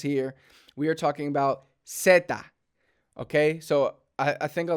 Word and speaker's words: zeta: we have is seta notice it is seta not Zetas seta so we're not talking about the cartel Zetas here we are talking about seta okay so I think